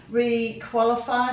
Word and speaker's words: requalify: Requalify, so you've got the QU again, and you know that the Y can make 3 vowel sounds. It can say E, as in happy, it can say I like in requalify, and it can say